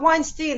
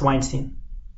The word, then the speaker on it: Weinstein: is Harvey Harvey Weinstein it's pretty nice not Weinstein is what Stein is a Jewish guy no no it's pronounced Weinstein I know what you're saying but I'm looking